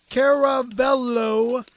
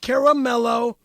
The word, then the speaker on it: Caravello: Let me start by saying Perry of Caravello spelled with a C and never a K pronounced Kavllo not Caramelo is easily one of the greatest comics and actors that the world has ever seen.